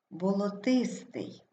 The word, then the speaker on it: болотистий: складі Отже перше слово ми вимовляємо болотистий наголос падає на третій склад вантажівка наголос падає на